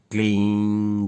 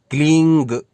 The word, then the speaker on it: क्लीं: याद स्मरण रखिए, क्लींग यानी अंत में ग का उच्चारण नहीं करना, और क्लीम क्लीम क्लीम अंत में म का उच्चारण भी नहीं करना, केवल उस बिंदी का उच्चारण करना है।